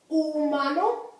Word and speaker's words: humano: Humano. Juguete. Notice I didn't say humano, right? I said humano because that H is there only so the word doesn't begin with the U, but it's not there for sound.